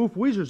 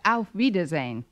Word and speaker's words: auf Wiedersehen: nice kind stretch actually the word you have in mind is pronounced auf wiedersehen oh well i never